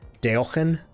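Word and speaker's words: Deogen: It's a Dutch word that I think the actual pronunciation is like Deelgen. Deelgen. But I just do like a crappy American pronunciation of as close as I can get to that.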